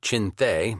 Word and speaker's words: Chinthe: Wingate's Chindits, a mispronunciation of Chinthe, the Burmese word for lion, and Merrill's Marauders fought